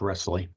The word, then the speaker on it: Riselli: And it's just like Nestle's chocolate with an R. It's Wrestling. Wrestling. Okay, Wrestling.